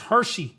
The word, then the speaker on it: Hexi: Hershey, as it will. Apparently, this word is pronounced Hershey, like the candy bar.